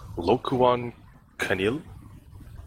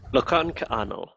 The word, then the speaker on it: Lokan Ka'ano: What's this? Lokuan Kanil? Lokan Ka'ano. Okay, very different.